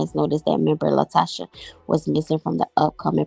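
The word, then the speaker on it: LaTocha: what's going on what's going on with Latasha Latasha yeah that's how you say her name what's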